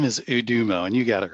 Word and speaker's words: Udomo: So the name is Udomo, and you got it right.